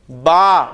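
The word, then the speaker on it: ب: तरह प्रोनाउंस करना है अब हम अरबी लफ्ज में जब बे आएगा तो हम उसे बे नहीं बोलेंगे बल्कि क्या बोलेंगे बा फे आएगा तो हम उसको फा बोलेंगे ये इसलिए जरूरी है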